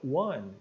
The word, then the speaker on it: one: de 1 Dólar então One apesar de começar com o ele tem som de w de U consoante seria um som de w né Ó então na transcrição